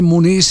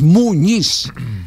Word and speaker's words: Muñiz: ya porque Claro porque en la planilla aparece muniz y y ahí es donde d uno encuentra que sobre todo los Internacionales cuando transmiten no pronuncian como corresponde es Muñiz Muñiz muy bien un abrazo